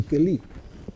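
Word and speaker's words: כלי: Keli Or, Keli, eso se pronuncia así, Keli, que significa vasija, instrumento también, vasija.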